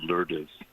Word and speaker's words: Lourdes: By the way, her name was Lourdes, like Our Lady of Lourdes, but as Cubans we pronounce it Lourdes.